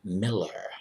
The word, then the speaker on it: Mueller: exactly that way and pronounced it miller like miller time bill miller so uh